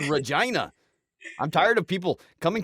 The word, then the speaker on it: Regina: what it rhymes with it rhymes with vagina it's called Regina I'm tired of people